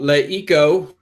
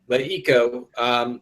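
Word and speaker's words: LeEco: We're going to move on to the hot sheet where we're going to talk about Leiko. Did I say it right that time, David? You did. Leiko.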